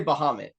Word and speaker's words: Bahamut: pronounced that's another one I say Bahamut yeah I do too like Behemoth or something like that yeah so I think